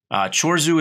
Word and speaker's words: Chorzów: because that's the hardest one for me to pronounce so chores who it is and I am a leading candidate